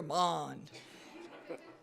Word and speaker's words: Mond: You know, I had the hardest time saying his last name, and they said, say it like James Bond. So now every time I say his name, I go, Mond.